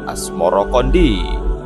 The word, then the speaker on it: Asmoroqondi: atau Maulana Ibrahim Asmoro sebutan itu mengikuti pengucapan lidah Jawa dalam melafalkan asamarkandi yang kemudian berubah menjadi asmorokondi nama asmorokondi sendiri dipercaya